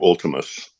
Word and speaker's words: Vltimas: Do you pronounce it Ultimus or Voltimus? Roman U, Ultimus.